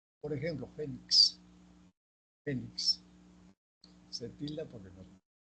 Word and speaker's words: fénix: Presentan la mayor fuerza de voz en la penúltima sílaba. Se tildan siempre que no terminen en S ni vocal. Por ejemplo, fénix.